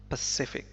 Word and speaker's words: Pacific: هذه الكلمة تنطق Pacific وتعني المحيط الهادي.